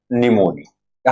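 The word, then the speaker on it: pneumonia: पाणी प्राणी कोणता स्ट्रेप्टोकोकस निमोनिया हा पी सायलेंट असतो याच्यामध्ये म्हणजे पी चा उच्चार आपण करायचा नसतो तो शब्द वाचताना त्याची स्पेलिंग पण आपल्याला कशी वेगळीच वाटते का नाही निमोनिया अस वाचायच त्याला हा झाला पहिला प्राणी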